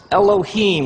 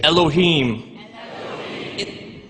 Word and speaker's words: Elohim: it would look something like this and it's pronounced elohim let me hear you say elohim in the beginning elohim created the heavens and